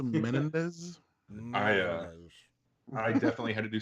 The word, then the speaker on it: Menendez: It's pronounced Menendez.